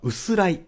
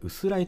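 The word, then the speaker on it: 薄氷: ことは、薄らい、薄い氷と書いて、薄らいと呼びます。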